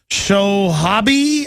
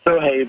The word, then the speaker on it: Sohaib: Let's go to Shohabi, I think I'm pronouncing it, in Oklahoma. You're on the air. Thank you for my call. Thank you, Jim, Alex. It's Sohaib, but thank you very much for taking my call.